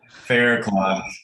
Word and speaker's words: Faircloth: like there's no other yeah that's pretty easy fair clock not cloud i get all kind of weird pronunciation do you that's what i was gonna